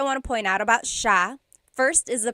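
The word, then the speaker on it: siya: to point out about sha. First is the pronunciation. It looks like it should be pronounced sa cia. But it's actually pronounced sha sha. So the s i y it's a sha sound.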